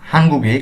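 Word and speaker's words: 한국의: bank হাঙ্গুক Korea weep আর্টিকেলটি শব্দের সাথে যুক্ত হলে এর উচ্চারণ হয় এ এবং বাংলা অর্থে র বা এর যুক্ত করতে হয় হাঙ্গুগে কোরিয়ার উনহ্যাং ব্যাংক কোরিয়ার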